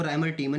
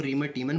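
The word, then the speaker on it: Reimer–Tiemann: मैन अभिक्रिया को समझाइए इसको राइमर टी मन भी बहुत लोग बोलते हैं इसको रिमर टी मन बोलते हैं और रिमर टी मेन भी बोलते हैं ठीक है वो तो आपके उच्चारण के ऊपर है लेकिन राइमर टी मन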